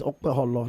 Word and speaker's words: Okpebholo: I heard the proper pronunciation of the name yesterday. That is Okpebholo. Yeah. That the B is not silent.